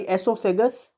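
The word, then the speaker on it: oesophagus: खाने वाली, एसोफेगस। वो आपका साइलेंट है, एसोफेगस, जिसको फूड पाइप भी बोला जाता है।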